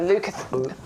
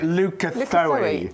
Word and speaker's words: Leucothoe: Right, well, there's different ways of pronouncing this. So I know Adam came in and said, what does he call it? He calls it Leucothoe. I think it's Leucothoe, but I quite like Leucothoe. I quite like saying that. Do you know what? I don't care. Many plants have got several different pronunciations.